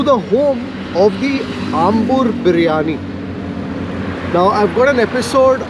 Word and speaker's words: briyani: And the other interesting trivia here is in Ambur, it is not biryani, but it's a biryani. So it's not the B-I-R-Y-A-N-I, it is B-R-I-Y-A-N-I.